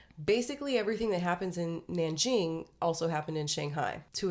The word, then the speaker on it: Nanjing: or The Rape of Nanking no okay absolutely not perfect you would be a half expert I'm excited and also kind of terrified so Nanking or nan Jing is how it's pronounced now is the it